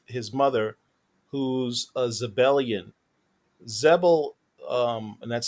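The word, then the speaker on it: Xebel: series you meet his mother who's a zebelian zebel um and that's spelled x-e-b-e-l is a sub-sect of of of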